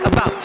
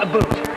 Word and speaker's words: about: speak English and French not American and I pronounce it about not a boot I can proudly sew my country's flag in